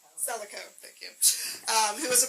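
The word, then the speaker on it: Celico: And just in time, please welcome Amy Slico. Did I pronounce that correctly? Selico, thank you.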